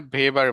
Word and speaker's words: Weber: নিনা ওইবারও বলি নাই, নিনা ভেবার বলছি।